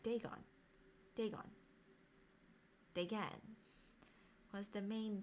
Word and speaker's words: Dagon: right here so I did say it right Dagon Dagon again was the main deity of the